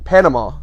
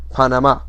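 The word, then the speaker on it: Panamá: now i'm not saying panama that's the american pronunciation in spanish it's pronounced panama and it is just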